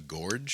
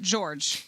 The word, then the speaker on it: gorge: We're going to have to pronounce it George if you're going to keep pronouncing it Jiff. The word is Jiff, and the word is gorge. It's George.